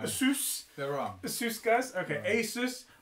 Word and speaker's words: Asus: here this is a Asus Asus please don't say it like that oh oh god I've heard this is the thing I've seen too many videos now people sent me videos to watch I say ases it's Asus yeah but I've watched